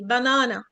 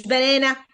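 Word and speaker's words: banana: دي معناها لونج ايه بنانا بنانا مش بنانه بنانه بنانه شايفين الشرطه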